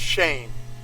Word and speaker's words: Cheyne: You know, my name is spelled Cheyne, but it's really pronounced Shane.